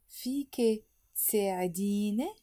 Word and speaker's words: فيك تساعديني: So altogether, we will pronounce it فيك تساعديني. And faster would be فيك تساعديني.